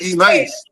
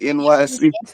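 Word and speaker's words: Enyce: We used to call that E Nice.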